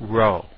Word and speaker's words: rho: Remember when we were talking about correlations, we talked about rho. Rho looked like a fancy P, but it was actually the Greek letter R, and spelled R-H-O and pronounced rho.